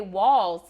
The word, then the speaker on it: Walz: I do, but I know how to say Walz because my mom's maiden name is literally Walls. Okay. Her real name Yeah. is Walz. Yeah. But when you put that LZ, it's something about putting that T in that Yeah. seems like a priority.